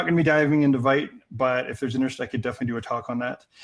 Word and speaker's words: Vite: So, oh, someone tell me it's pronounced Vite, pardon me.